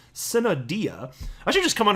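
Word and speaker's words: sine die: that spell s-i-n-e-space d-i-e so i was like what the hell sign die and so then i looked it up and uh you know google can pronounce stuff for you so anyway i found it it's pronounced cinnadia i should just come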